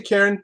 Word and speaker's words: Cairn: I say Cairn, but my Scottish friends say that it should be pronounced Cairn.